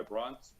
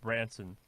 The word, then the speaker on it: Branson: Similar to the idea that, is it the Virgin guy, Bronson? How do you pronounce his last name? Bronson? Branson. Richard Branson.